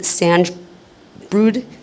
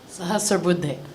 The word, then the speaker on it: Sahasrabudhe: Boys tennis, we had, I'm going to not pronounce this correctly, and I apologize. A student, Sanj Brood, I believe is his last name. Sahasrabudhe. Yes. Thank you. There you go.